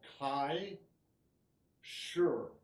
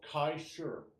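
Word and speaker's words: kai shi: this move is called Kai sure that's K AI shi shi is pronounced like with a little r at the end sure so Kai sure sure means a movement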